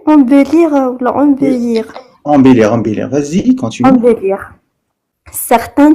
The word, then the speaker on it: embellir: Ces procédures, considérées comme relativement simples, visent à comment prononcer embellir ou embellir?